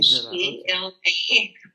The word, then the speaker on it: Gisela: Gisela. Like gazelle. Yeah. It's like Giselle in French. Gisela is the German version.